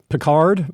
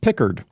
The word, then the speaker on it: Pickard: I I said uh I pronounced his name peard uh because of Star Trek the Next Generation Jean Luke Bard uh how ever um the announcers pronounce his this other guy's name Pickard so Pickard um goalie